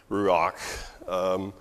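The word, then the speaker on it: רוח: up in its wings the word wind and the word spirit is the same word in Hebrew it's rock so you'd spell it like Are you a we don't really have an English letter for that last letter it'd be like CH I guess you would say ruak and so it can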